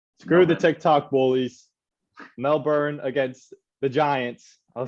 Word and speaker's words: Melbourne: tick tock no man mel ben no that's what the accent mel then is how you say with the accent mel ben screw the tick tock bullies mel burn against the giants i'll